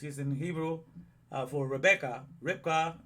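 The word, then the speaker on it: רבקה: Ribkah, that's how you say it.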